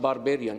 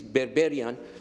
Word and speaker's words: Berberian: By the way, it's not Barbarian, it is Berberian, but unfortunately it's spelled to Barbarian.